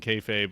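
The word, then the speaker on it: kayfabe: what's happening in wrestling kfabe which I've mispronounced for years I appreciated your your uh etymology of rhymes with hey babe it does look I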